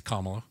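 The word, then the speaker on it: Kamala: us Gail bass two things number one it's kamla I won't Mis we won't mispronounce anybody else's name it's KLA uh and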